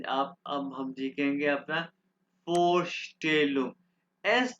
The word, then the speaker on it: Vorstellung: Four स्टेलुम, four still, S टी इकट्ठा आवाज pronounce हो रहा है, तो श की आवाज निकाल देगा।